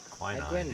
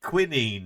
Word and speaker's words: quinine: Did we pack the quinine when we left Amboina? Quinine, yeah. Or quinine? Is that how you say it in the UK?